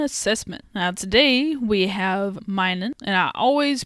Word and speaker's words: Minun: to another Pokemon assessment now today we have Mining and I always pronounce that name wrong I know this is very silly but I could have sworn his name was minum like it ended with an M instead of